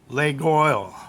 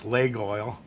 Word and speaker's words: Laguiole: That's how it's pronounced, I guess, Laguiole.